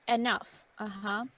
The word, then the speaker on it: enough: Okay, there aren't, in this case, enough. La GH en este caso se pronuncia como si fuera una F.